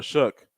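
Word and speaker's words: Shough: for a second time Tyler shook Tyler slow shook he he pronounces his last name shook I know he in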